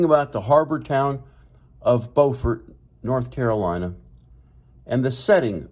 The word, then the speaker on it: Beaufort: The North Carolinian coastal town is pronounced Beaufort.